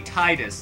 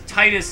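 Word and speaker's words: Tidus: bomb and everyone everybody it shouldn't be pronounced that way there's literally no reason it's supposed to be titus like a tide that entire game is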